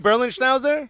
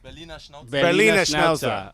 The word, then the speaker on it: Berliner Schnauzer: Berlin Schnauzer? Berliner Schnauzer.